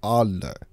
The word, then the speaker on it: Adler: To pronounce the simp's name, it is something close to Adler.